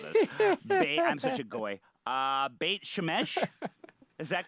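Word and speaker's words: Beit Shemesh: bait boy i apologize in advance for my pronunciations of all of this i'm such a uh bait shemesh is that correct great shamish yeah yeah now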